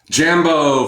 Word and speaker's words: Jambo: Jambo, fellow adventurers, it's Mike Dooley, and to correct my pronunciation, thanks for the tips out there, Jumbo is the Swahili greeting for hello, but to adventurers like